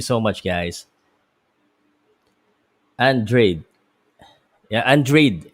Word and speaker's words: Andrade: much guys andre yeah andreid is how you pronounce it i've been pronouncing it that andrade but uh um i've been hearing the the commentary and um the commentators are saying android not andrade shout out sir pal